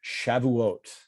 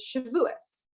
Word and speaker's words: Shavuot: like the good the the good eastern european pronunciation is shivuas shavuous yeah i wouldn't get that